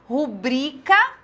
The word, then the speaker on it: rubrica: Mister é uma oxítona austero paroxítona recorde paroxítona rubrika paroxítona levedo proparoxítona munícipe proparoxítona então nós temos